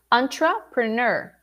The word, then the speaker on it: entrepreneur: pronounce this profession so repeat with me antra the emphasis is in the final syllable can you see entrepreneur so the first expression